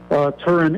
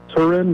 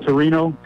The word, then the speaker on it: Turin: Second time was in Turin, Italy, which is the right way to pronounce it. Turin with no O at the end, yeah. But it's people call it Torino.